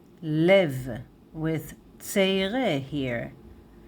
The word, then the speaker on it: לֵב: So, lev, lev, lev, with tseire here. Lev is singular, masculine.